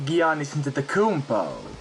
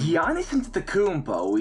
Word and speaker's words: Giannis Antetokounmpo: This is the crazy lifestyle of Giannis Antetokounmpo. That is not how you say his name. Giannis Antetokounmpo is Giannis?